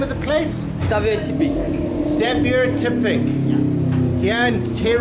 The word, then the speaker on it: Saveur Tipik: Saveur Tipik Saveur Tipik.